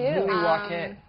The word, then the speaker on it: Milwaukee: The natives pronounce it Milwaukee.